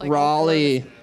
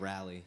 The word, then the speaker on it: Raleigh: all three of us Raleigh Raleigh they come on yelling at us because we said rally rally rally our New Jersey accent yeah and fight about